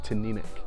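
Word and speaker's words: Teaninich: of the understanding that you exaggerate the middle syllable so it's tin Enoch it's also quite difficult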